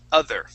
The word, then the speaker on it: other: to practice uh each other okay saying those two words together okay so that o that o in uh other is going to be an uh sound each other okay and